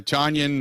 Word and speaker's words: Tonyan: kick terrible coverage uh tonyan uh rhymes with funyun uh miss you guy